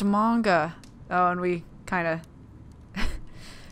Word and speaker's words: manga: Chloe was so into manga nice hair it's pronounced manga oh and we kind of well we see